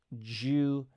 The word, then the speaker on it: due: of the Atlantic okay when we have a d u i pronounce it like a J in my name and that's during the